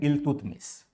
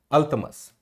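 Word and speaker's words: Iltutmish: दूसरा शासक जो हमारा होता है वह आता है इल्तुतमिश। दूसरा शासक जो है वह है हमारा इल्तुतमिश। अंग्रेजी में इसका उच्चारण अलग आता है। अंग्रेजी में इसका उच्चारण अल्तमस करके आता है। अल्तमस।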